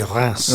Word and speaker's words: Reims: Yes, I've never known how to pronounce it, but I hear they say Reims.